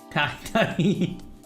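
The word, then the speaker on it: Tajín: Tahine. I'm so... Chamoy? Okay, so it is the act. Okay, so Tahine is spelled with the J, like an H, but the chamoy is like, never mind.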